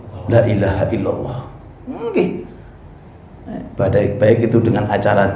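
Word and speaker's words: لا إله إلا الله: Jannah kunci surga adalah lailaha diperpanjang Tapi bacanya Lailahaillallah ngih sampai ulama niku berpendapat lamnya dipanjang atau diperpendek khawatirnya dipanjang nanti belum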